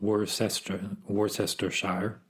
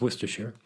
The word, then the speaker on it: Worcestershire: If I look at how Worcestershire is pronounced, not Worcestershire, it is Worcestershire.